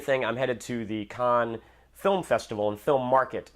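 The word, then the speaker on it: Cannes: a last minute thing I'm headed to the Khan film festival and film Market in about a week or so here and it's funny I know Khan is the correct pronunciation but I always say can because when I say Khan I feel like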